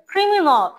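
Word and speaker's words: criminal: হতে আসতেছে ট্রায়াল দেন ক্রিমিনাল ক্রিমিনাল হ্যাঁ লাস্টে অল এর মত উচ্চারণ হবে এখানে আল উচ্চারণ হবে না ঠিক আছে আল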